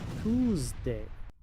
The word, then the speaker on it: Tuesday: Muchos pronuncian esta palabra tu, pero aquí la e es muda después de la u. Tuesday.